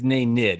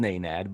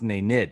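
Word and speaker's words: Nenad: the hard way no big deal but it's nay nid it wasn't nad i know it's amazing since you've it's name nick no it's nate nate kristic no it was spelled naynad but it's pronounced nay nid all right we may have to go back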